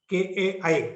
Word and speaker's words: chi: It's Kai, like that.